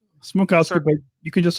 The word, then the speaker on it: Smrokowski: Smrokowski, but you can just say. That's fine. I'm Smrokowski.